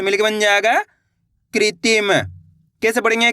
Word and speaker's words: कृत्रिम: की मात्रा कृति म तो मिलके बन जाएगा कृत्रिम कैसे पढ़ेंगे कृत्रिम क्लियर है अगर दोस्तों आपसे इस मात्रा का सही से उच्चारण नहीं हो पाता अगर आप शब्दों को